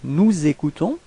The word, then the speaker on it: nous écoutons: Okay, if we make the liaison, nous écoutons.